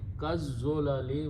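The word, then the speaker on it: كالظلل: So now the sound will be kazzolali, which is written in the Quran, which is there. Because when you say al zalali, lam is killed, so za takes the shadda on it. So pronounce az-zola, lu, and kaf will change to li, and you pronounce kaz-zolali, okay, which is written this way.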